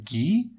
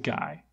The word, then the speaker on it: Guy: by a child also they pronounce his name as gee but he's from irish descent not french so i'm gonna pronounce it guy wait is that where